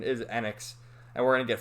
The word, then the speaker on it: Enix: It's really properly pronounced Enix, but I always used to say Enix when I was younger. But the proper pronunciation is Enix.